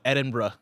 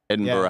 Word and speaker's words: Edinburgh: Uh Edinburgh. Edinburgh. Pronounced that. No Edinburgh.